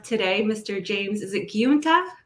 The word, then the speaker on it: Giunta: James, is it Giunta? It's pronounced Giunta, as in the month of June.